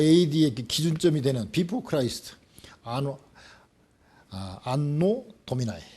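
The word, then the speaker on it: Anno Domini: 것을 결정하는 BC와 AD의 기준점이 되는 Before Christ, 안노 도미나이, 발음은 안노 도미나이론데요.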